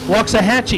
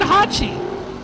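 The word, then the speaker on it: Waxahachie: pronounce it wa aachi walks a Hatchy you told me wrong you said you said Hatchi it's Hatchy I tell you what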